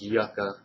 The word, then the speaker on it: Yucca: It just said on the movie it's pronounced Yucca.